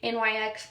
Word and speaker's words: NYX: Um, NYX pronounced NYX.